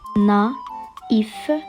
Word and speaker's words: naïf: Donc le mot va obligatoirement se composer de 2 syllabes. Na comme dans final, le tréma comme dans image et la dernière consonne se prononce f. Naïf, naïf.